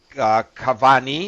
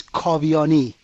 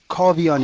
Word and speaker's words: Kavian: forgive me uh draa Cavani is that right you you did the first part very nicely the last part is kavani kovani kovani kovani Davi kovani